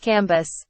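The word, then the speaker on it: Cambis: There were in Madame de T.'s salon some very noble ladies named Mathan, Noé, Levies, which was pronounced Levy, Cambys, pronounced Cambus.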